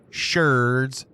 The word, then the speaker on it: sherds: So far, we found a couple of pottery sherds, and yes, it is pronounced sherds. Why? Because archaeologists be weirdos. That's why. Seriously, though, I have no idea why they chose sherd over shard, but it is what it is.